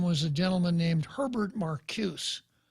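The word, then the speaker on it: Marcuse: a gentleman named Herbert Marcus sometimes pronounced marcosa and the rest of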